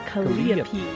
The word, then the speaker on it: calliope: I'll talk about later, it's a long E sound instead of the I sound, so it's calliope.